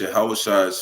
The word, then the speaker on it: Yahawashi: That's Yahawashi's physical father. Who everybody ignorantly calls Jesus Christ, right? It's Yahawashi's physical father. That's how you say it in the ancient Hebrew.